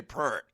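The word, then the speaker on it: East Point: formed in 1991 in East parent Atlanta Georgia I did say prent that's how they say it trust me that's how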